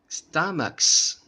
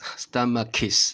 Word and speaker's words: stomachs: reason why stomachs stomachs we don't pronounce like stomach case stomach kiss that's really weird so that's the reason